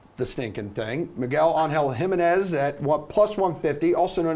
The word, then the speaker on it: Jimenez: Miguel Angel Jimenez at plus 150, also known as the most interesting man in golf.